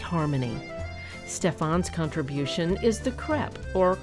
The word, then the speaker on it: crepe: Stefan's contribution is the crepe, or crepe recipe, as some Americans pronounce it.